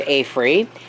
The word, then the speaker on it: AFERIY: I think it's pronounced AFERY, A-F-E-R-I-E.